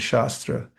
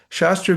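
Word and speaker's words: शास्त्र: You can pronounce it with the long or short a.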